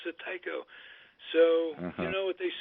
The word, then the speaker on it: Tycho: He pronounced it all his life Tico when it was short. And we pronounced it Tycho. The rest of the family pronounced it Tycho.